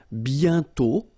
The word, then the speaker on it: bientôt: And then bientôt, okay? Remember, you put this accent circonflexe, but you don't write it. You write it, but you don't pronounce it. And then the final T is not pronounced. Bientôt, okay?